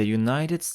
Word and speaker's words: United: Stany Zjednoczone Ameryki The United of America tutaj jest we pomimo że jest u samogłoska ponieważ wymawiamy przez j przed nazwami narodowości gdy